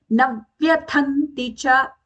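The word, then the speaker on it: न व्यथन्ति च: Navyathanti cha. All are short sounds from na onwards.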